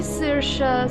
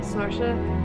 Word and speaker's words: Saoirse: say Saoirse, some people say Saoirse, so it does. Even in the correct pronunciation, it varies person to person.